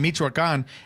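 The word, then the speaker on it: Michoacán: Michoacan. Yeah, okay. So over in Michoacan, is it popular soccer?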